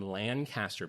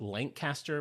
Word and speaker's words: Lancaster: I was saying Lancaster, Pennsylvania. Apparently, it's Lancaster, Pennsylvania.